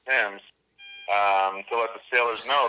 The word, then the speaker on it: Thames: on the River Thames spell Thames pronounced Thames so what the fillers